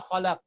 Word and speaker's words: خلق: I'm saying qaf, but you're not hearing the pronunciation of qaf at the end. So what I need to do is I need to pronounce it separately, like قل أعوذ برب الفلق من شر ما خلق. So you know that this is qaf.